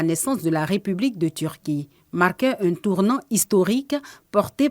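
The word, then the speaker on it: Türkiye: de la prononciation correcte c'est Turquie et on prononce Turquie qui est à l'instar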